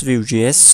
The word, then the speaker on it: Vue: And first of all, what's VueJS? Now if you see the documentation of the VueJS, Vue, pronounced like Vue, is a progressive framework for building user interfaces.